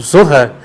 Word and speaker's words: Zohar: aqui lendo o Zohar, o Zohar, que é a forma correta de ser pronunciada a palavra, Zohar, que significa radiância, esplendor,